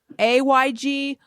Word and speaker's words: egg: So you can say it like egg, AYG, or like egg. Like it's the split that I have and me and Mike have from our neck of the woods, the BAG of it all.